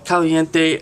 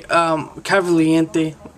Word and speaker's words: Cavalcante: So first one, Antwain Britt versus Rafael Caliente. Cavalcante. I said his name wrong, but you know who I'm talking about.